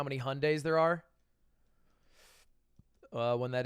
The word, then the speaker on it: Hyundai: 10 years or so hyundai it's hyundai the company's wrong the koreans are wrong they don't know how to say their own company shocking sad korea can't